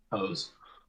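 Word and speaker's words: Jos: hose okay what's the actual name how's it spell it's a j-o-s pose hose this is freaking larry's nice is this i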